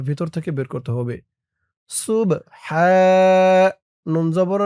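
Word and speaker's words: سبحان: সুবহানা, সিন বা পেশ সুব, সুব।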